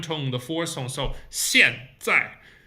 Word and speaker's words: 现在: So 现在. 现 lower teeth, tongue touching the lower teeth. 现 and 在 just zip, 在. Both of them are down tone, the 4th tone. So 现在.